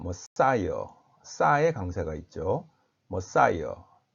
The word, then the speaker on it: Messiah: 영어 발음은 메시아가 아니고 머사이어입니다. 머사이어.